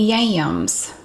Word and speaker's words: yam: and it's not candied yams and i cannot say that word why am in one syllable is yam it's yam it's sweet potatoes um